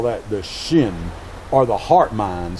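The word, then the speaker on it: hsin: Chinese call that the shin or the heart mind spelled in romanized letters HS i n but still pronounce Shin which means the sub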